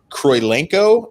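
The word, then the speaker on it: Kurylenko: The actress that plays Antonia Dreykov is Olga Kroilenko, I believe is how it's pronounced.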